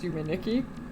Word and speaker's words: Yume 2kki: Because Yume 2kki is literally just pronounced Yume 2kki, because in Japanese, ni is too.